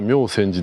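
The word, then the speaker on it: 妙宣寺: で、妙千寺の読み方も合ってるかって聞いたら、ちゃんと妙線寺の読み方は妙千寺ですと書いてます。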